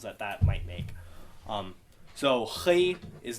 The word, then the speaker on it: chi: Yes, you have to put it more you kind of make an H, but you kind of rough it up a little bit. So, chi.